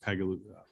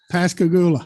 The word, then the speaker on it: Pascagoula: pilot program and apply it to the East Pegaloon. To the where? I'm sorry. It wasn't that you couldn't hear me, Chairman. It was I couldn't pronounce the bridge. All right. So East Pascagoula.